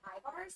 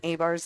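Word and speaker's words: Ibars: Bars is pronounced I-bars. Like I-bars. Yeah, okay. Yeah, absolutely. Thank you so much. And congratulations on the wedding. Thanks so much. Yeah. Okay. And I'll say this now. This just happened. Name pronunciation can be pretty difficult. So I do apologize if I've been pronouncing people's names incorrectly. I was pronouncing A-bar's name incorrectly. It is I-bars.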